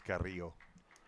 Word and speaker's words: Carrillo: Roll those R's, man. That's right. We were asking pronunciations. And I'm sure it is Carrillo. but I'm bad at rolling my R's.